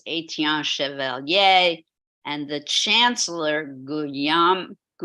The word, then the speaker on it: Guillaume: Again, he worked for Charles VII, the treasurer of France, Etienne Chevalier, and the chancellor, Guillaume, not sure how to pronounce William, Heather, help me out. Guillaume Juvenal des Ursins. Guillaume, thank you.